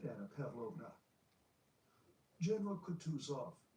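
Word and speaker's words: Kutuzov: said Anna Pavlova General cout off said bonsky speaking French and stressing the last syllable of the general's name like a Frenchman has been pleased to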